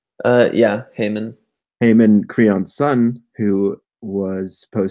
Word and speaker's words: Haemon: Is that the correct pronunciation? Yeah, Haemon.